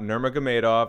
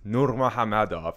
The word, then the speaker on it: Nurmagomedov: It's not Nurmagomedov. I've listened to him pronunciate it. It's Nurmagomedov, as best as my anglicized mouth can produce.